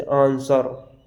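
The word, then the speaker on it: answer: आए तो वहाँ पर नहीं हम डब्लू को साइलेंट रखते हैं। जैसे आंसर, WANSER, आंसर, शॉर्ट, इन में आपको डब्लू साइलेंट, एस के बाद में डब्लू आया साइलेंट रखते हैं।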